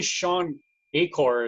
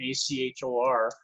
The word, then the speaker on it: Shawn Achor: it is but actually shawn Achor is how you pronounce his name ec hor and he wrote the